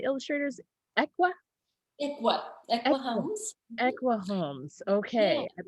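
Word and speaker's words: Ekua Holmes: And how did you pronounce the illustrators? Equa? Equa Equa. Homes. Equa Holmes.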